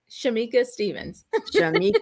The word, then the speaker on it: Shamecca Stephens: believe I forgot to ask you Shamika or Shameka like how do you say your name Shamika Stevens Stevens I meant to ask but I always